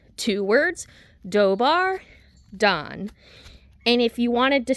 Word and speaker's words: Dobar dan: Two words, dobbar don.